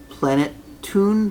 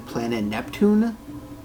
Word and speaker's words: Planeptune: plenitude whatever they're saying I actually am always saying it wrong cuz I'm saying planet Neptune so I'm adding an extra end in there like I'm adding an extra and an eeeh that isn't exactly there so that's on me